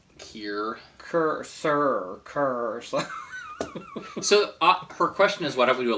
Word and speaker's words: Cyr: It's like pronounced like Kier.